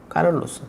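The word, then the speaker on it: Carlos: 시간에 찰스 4세, 그러니까 영어식으로는 찰스, 제가 이제 그거를 프랑스식으로는 샤를, 그래서 스페인식으로는 뭐라고 발음하지? 제가 지난주까지는 사실 찾지 않았는데 그 방송 끝나고 뭐라고 발음하지? 샤를은 아닐 것 같은데 라고 했는데 찾아보니까 까를로스더라고요. 까를로스.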